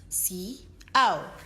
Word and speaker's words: siaw: It is spelled as S-I-A-W and pronounced in 2 syllables as siaw, siaw.